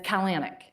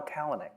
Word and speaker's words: Kalanick: it's Bezos yeah Bezos and it's kalyanic no kalanic kalanic yeah and it's chesky chesky